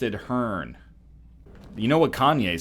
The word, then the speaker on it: Kanye: You know what Kanye said? I'm Kanye, but some of my plastics still say Kane.